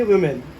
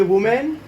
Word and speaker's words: women: और प्रोनाउंसिएशन भी थोड़ी सी चेंज हो जाएगी और इसको हम पढ़ेंगे वुमेन, ये वुमेन, ये वुमेन, ठीक है।